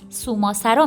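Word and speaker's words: صومعه‌سرا: تلفظ نام این شهر در اصل سوماسرا می باشد.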